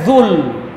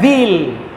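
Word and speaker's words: ذو: wabqo wajhu rbika Dul makanya dibacanya Zul bukan Zil Kenapa dibaca Zul jadi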